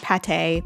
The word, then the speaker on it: Pate: still a cute name they've taken away the circumflex from the a and the um accent egu from the e which doesn't give us any context about how we're supposed to say the name but i do believe it's pate because she's duck and duck liver pate which is delicious but